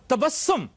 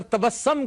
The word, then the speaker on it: तबस्सुम: जी जी तवक्कल गलत है इसके ऊपर पेश है तवक्कुल तहम्मुल तदब्बुर और तबस्सुम। तबस्सुम भी लोग ज्यादातर तबस्सम कहते हैं ये तबस्सुम है इसके ऊपर पेश है।